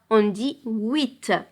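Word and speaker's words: huit: dit 7 8 ici pour 8 on a le h muet on le prononce pas on dit 8 9 10 10 c'est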